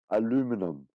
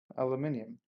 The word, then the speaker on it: aluminium: how do you spell aluminum? Aluminium.